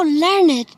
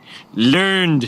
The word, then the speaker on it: learned: Oh, Papa Homer, you are so learned. Learned, son. It's pronounced learned.